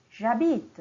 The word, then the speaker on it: habite: Si nous avons un verbe qui commence par la lettre H, c'est un H muet, alors on va dire J'habite, c'est la même chose. J apostrophe, habite.